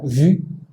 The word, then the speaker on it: vu: Aquí se pronuncia vu, aquí se pronuncia bu.